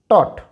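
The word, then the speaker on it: taught: Here it इज़ टॉट, टॉट।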